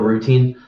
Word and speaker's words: rutin: The routine. R-U-T-I-N is how you spell it.